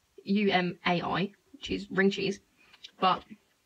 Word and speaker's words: Umai: next thing is a the way i pronounce it because my great british accent is ooh my cheese rings oh my cheese rings it's actually umai which is ring cheese